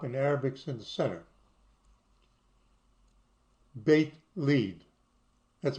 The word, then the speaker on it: Beit Lid: Beit Lid. That's how it's pronounced. Beit Lid.